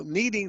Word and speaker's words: kneading: I told them that we don't pronounce the K so I think my